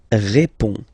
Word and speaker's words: réponds: Je réponds. Je réponds. Okay, so you can see that D and S here are not pronounced.